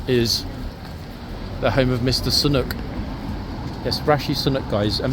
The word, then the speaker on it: Sunak: own prime minister guys I know that officially in his passport he's Rishi sunak but I personally have